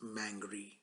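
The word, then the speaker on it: Mangere: It's spelled Mangear, but it's pronounced Mangry. It's a Maori word.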